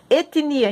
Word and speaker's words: etnia: Mas a gente chama agora etnia, o T é mudo, etnia.